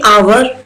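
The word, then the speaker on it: hour: यहाँ पर देखिए आवर, तो मैंने एच तो बोला ही नहीं, तो ये साइलेंट है यहाँ पर एच।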